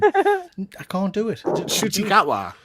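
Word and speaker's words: Ncuti: certain it's pronounced Shuti.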